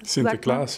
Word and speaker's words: Sinterklaas: Ich hoffe, ich spreche es richtig aus. Sinterklaas. Sinterklaas, ja, gut ausgesprochen.